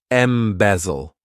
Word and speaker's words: embezzle: To embezzle, this verb has three syllables and the stress is on that second syllable. Embezzle.